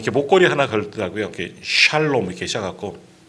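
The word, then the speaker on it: שלום: 이렇게 샬롬 이렇게 시작하고 시옷 발음이 굉장히 이렇게 샤 이런 발음이 나오는데 샬롬 해갖고 이렇게 목걸이도 걸고 오는 그런 분들, 그건 히브리어고요.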